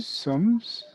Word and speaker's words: sommes: Nous sommes. S is silent, remember?